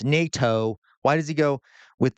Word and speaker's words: NATO: It's easy to pronounce NATO. Why does he go with the NATO leaders?